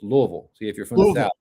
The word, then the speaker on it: Louisville: believe that yeah yes we all one syllable Louisville yeah you have to yeah they say Louisville no no Louisville yeah yeah you have to be a native to understand it but so what do